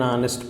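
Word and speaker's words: honest: सो an honour, N आर, एन ऑनेस्ट person, यहाँ पे H silent है इसलिए यहाँ पे जबकि अ होटल, अ हिस्ट्री बुक, ये कॉन्सोनेंट साउंड है यहाँ पे।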